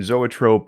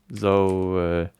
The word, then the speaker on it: zoetrope: Because we don't know how to say zoetrope. Composed of the words from Greek. Zoetrope. This YouTube pronouncer says Zoetrope. Zoetrope. It says it's from Tropos.